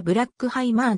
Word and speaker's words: Bruckheimer: 移民の子孫で本来の発音はブラックハイマーだが 1980 年代の映画公開資料で誤ったカタカナ表記がそうのまま使われている幼い頃